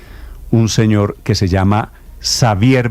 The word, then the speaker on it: Xavier: Yo diría que si es la versión catalana Xavier vendrel Ese es su aunque esa elle del final de vendrel tiene una pronunciación catalana que yo no alcanzo y desde